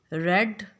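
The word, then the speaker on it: read: आपने किताब पढ़ी, यू रेड अ बुक. अब इसमें रीड और रेड के स्पेलिंग सेम होते हैं, लेकिन उसके जो मीनिंग है वो चेंज हो जाते हैं.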